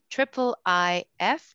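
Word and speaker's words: IIIF: share my screen again is getting started with triple i f did i say it right elias yes with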